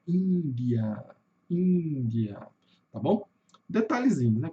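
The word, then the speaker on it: India: Chuá, aquele sonzinho do adolescente entediado do ã ã, então não é um a aberto, é índia.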